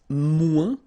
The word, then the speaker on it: moins: Then if you want to say less, it's moins in French. So no discussion about the S here. Don't pronounce it.